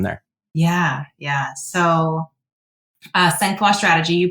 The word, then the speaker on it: Sangfroid: initiatives uh from there yeah yeah so uh Sena strategy you pronounced it correctly thank you I'll start with